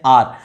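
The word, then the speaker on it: hour: इसका साउंड सुनो ना, यहां पर एच साइलेंट है, एन आर, तो यहां पर ओ का साउंड आ रहा है ना, इसीलिए यहां पर क्या हो जाएगा, एन आर हो जाएगा।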